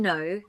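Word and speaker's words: know: In no, the K is silent.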